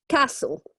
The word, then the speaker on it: castle: for okay very good and what letter there are we not going to pronounce okay very good guys yeah so it's just Castle okay the tea is